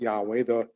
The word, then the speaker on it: Yahweh: In the Hebrew Bible, in the book of Esther, there are 4 places where the name of the Lord, sometimes we pronounce it Yahweh, and in English characters, YHWH, are hidden the same way.